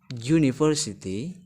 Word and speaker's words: University: itu juga berfungsi untuk menunjukkan kata benda yang pronounciationnya atau bunyi konsonan seperti University ini berbunyi juta Manteman meskipun awalnya huruf u5k